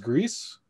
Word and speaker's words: Gris: I got a notification that the game, I think it's pronounced Grease, GRIS. I think it's from a French studio.